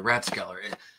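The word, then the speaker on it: Rathskeller: Oh, the Ratskeller. Yes. In Dunellen. Yeah, the Ratskeller. R-A-T-H. It's pronounced rat, not wrath.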